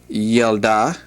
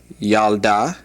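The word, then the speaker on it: ילדה: And the word for girl is yelda. Yalda.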